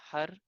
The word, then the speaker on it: har: continuously chanting the word har h a r and try to let the tongue hit the roof of your mouth when you pronounce the the r sound and we'll continuously chant